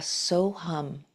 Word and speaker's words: So Hum: So if you'd like to try that with me today, we're going to do the mantra So Hum. So, S-O, and hum, pronunciation spelled H-U-M, hum. And So Hum essentially means I am that with a capital T.